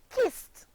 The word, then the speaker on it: kissed: The verb kiss, kiss, becomes the past tense verb kissed and is pronounced wonderful, kissed, only 1 syllable.